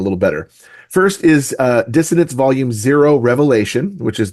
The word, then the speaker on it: Dissonance: dystopian science fiction series dissonant did I pronounce the name of that series correctly uh it's dissonance that's the one okay dissonance